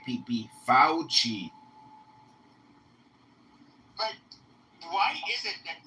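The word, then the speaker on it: Fauci: His name is pronounced Fouchi. Fouchi. Get it right pe Fouchi.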